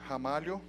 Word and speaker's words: Ramalho: can see online on speaker deck comm slash hamari oh so my last name you pronounce as if it started with an age